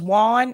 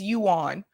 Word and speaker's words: yuan: a while back and they thought it was Juan it is Yuan yeah I know it's spelled one but it's it's spelled like it would be one but it is actually you on uh but yeah